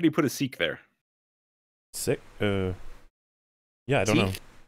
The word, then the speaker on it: sic: latin they pronounce the I like and II know it's sick si si it is seek it is Latin si que no mints si k8 wait is sick and actual you can sick on someone on something something yeah that's what it's because it comes in the Latin adverbs sick meaning thus will not pronounce the I as an a they pronounce it as an e sick seek according to